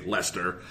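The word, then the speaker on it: Leicester: alliance in the east which is even spelled like you know lycaster but of course you say lester there's just like five letters in the middle that don't matter and then you've got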